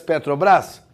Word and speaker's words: Petrobras: Não deveria ter um acento se você dissesse Petrobras? Deveria, né? Porque é uma palavra oxítona terminada em AS, tipo sofás, carajás, jacarandás.